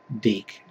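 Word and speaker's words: DiC: is from and circle entertainment originally made by deke what some people would mispronounce their their name because it spelled di see I'm not going to tell you how they would pronounce it probably but it's pronounced deke and one time teeth was owned by Disney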